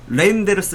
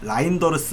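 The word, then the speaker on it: Reijnders: 레이 레인데스 어 자 여기서도 다시 한번르스레인데스 레인데르스 레인데르스 이러죠 어 레인더르스라기보다는 레인데르스다 라인더르스 아니고 레인데르스다라고 이제 이해를 하시면 될 거 같아요.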